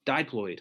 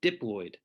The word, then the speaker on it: diploid: are what we call diploid or diploid either pronunciation is fine it just means you